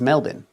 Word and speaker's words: Melbourne: Melbourne but it is pronounced with as many as six letters at most which is Melbourne.